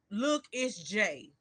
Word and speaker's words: LookItzJay: Um Look, it's J. And it's spelled LOOKITZJAY.